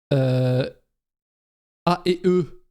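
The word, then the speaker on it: A&E: A et E, je le prononce à la française, qui diffuse LFG, les trucs.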